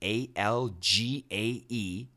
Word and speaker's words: algae: 3D printing shops algae now that spelling is confusing a l g AE but the pronunciation in America algae Bitcoin ATMs breath analysis